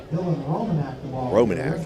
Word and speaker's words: Romanak: off left side that's ROM Yak Roman romanak they are saying romanak so we'll correct our pronunciation sorry about that he